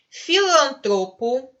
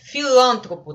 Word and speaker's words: filantropo: Filantropo, tá certo? Filântropo, né? Filântropo, tá errado.